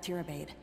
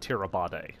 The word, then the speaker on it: Tirabade: to my wife, Erebeth Tirabade, head of the Eagle Watch. I appreciate you telling me that is a silent E and a long A and not Tirabade.